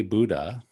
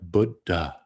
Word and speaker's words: Buddha: in new york but if we look at the word closely it's a short u with a d and then followed by an aspirated d written as d h and then a short a and so it's probably a little bit more like buddha so i'm trying to give you a little bit of aspirate in that d8 buddha we have